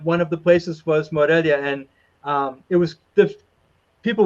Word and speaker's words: Morelia: Morelia? Morelia.